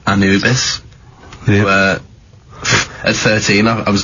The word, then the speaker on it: Anubis: number two then uh Anubis is how you pronounce it yeah I think that's